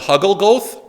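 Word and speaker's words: הַגֻּלְגֹּלֶת: have the other pronunciation in Hebrew this would be called something different would be called Huggle goth because Hebrew puts the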